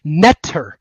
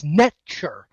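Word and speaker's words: nṯr: Okay, when I say natural, that comes from the Egyptian word netter, and it's actually not pronounced like that. If you transliterate it, it would be NTR in English transliteration. But if you actually pronounce the word in Egyptian, it's netcher, netcher, which is very close to nature.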